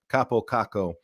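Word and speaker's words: Kaapo Kakko: a Finnish Guy saying this is the proper way to pronounce Capo kako and I actually kind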